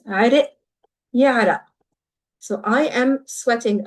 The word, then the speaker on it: عرق: So the qaf is typically pronounced as a glottal stop in Lebanese. عرق يعرق.